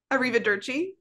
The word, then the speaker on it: Arrivederci: Arrivederci. What does that mean? Italian for hello or goodbye. Oh. So it's either the first episode. Arrivederci. It's the last episode of the season. Okay. Arrivederci.